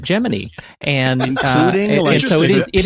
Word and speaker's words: Gemini: of Damian Giselle and at the time there was a large contingent of the population that actually pronounced it Gemini and so it is